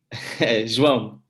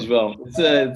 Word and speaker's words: João: João. Sure. João. It's a very Portuguese name, and it's very hard to say it correctly in all the other languages. But it's fun having parents